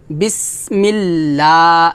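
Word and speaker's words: بِسْمِ اللّٰهِ: লাম খারা জবর লা এখানে লাম খারা জবর লা হবে কারণ এটা হচ্ছে লফজাল লাম আর লফজাল লামের ডানে কি আসছে জের আসছে এজন্য আমরা এখানে পাতলা করবো লামটা বিসমিল্লাহ লা এক লেটান হবে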